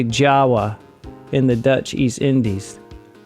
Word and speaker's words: Java: rockas bitong in Jawa it's spelled like Java but you say Jawa in the Dutch East